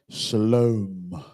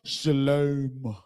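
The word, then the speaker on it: שלום: lie anymore because this, this Y right here turns into a O. And now you have shalom. That's why they say it like that. It even says that if you read what I just showed y'all, it says it has the long O sound.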